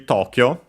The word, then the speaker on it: Tokyo: So it's actually Tokyo. Uh be careful because uh uh of the uh two uh u after o and so actually long uh o so long o took uh and